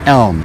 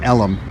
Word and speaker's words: Elm: The main street is not Main, it's Elm. And it goes back to the olden days, you could say, early part of the last century, where people were mispronouncing the street Elm and calling it Ellum.